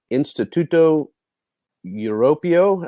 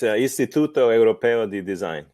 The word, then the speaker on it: Istituto Europeo di Design: He earned his degree in design and communications from Instituto Europeo. I'm not saying that correctly. The design in Milan, Italy. Please correct my pronunciation on the university. It's Istituto Europeo di Design.